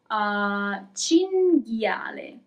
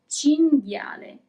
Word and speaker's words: cinghiale: Cinghiale. Here we also have the group that we have already seen, G-H-I, G. Cinghiale.